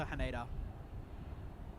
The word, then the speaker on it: Haneda: and Quanis 59 off to Haneda or Han as it should be properly pronounced.